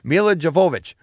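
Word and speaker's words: Milla Jovovich: devote joe i knew i'd screw this up mila javova javovich ha ha i knew it i knew i know how to say it but i get nervous mila jovovich yeah i'm going to call her mila from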